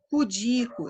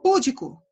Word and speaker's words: pudico: Pudico, eu vejo muita gente falando púdico, mas não é. A sílaba tônica é o di, então é pudica, é uma palavra paroxítona.